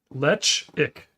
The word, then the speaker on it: Ledaig: Not Ledaig. Was I saying it wrong? Ledaig. Ledaig. Letch ick.